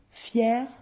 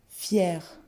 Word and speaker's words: fier: première, léger, légère, fier, attention à la prononciation, fier, fier.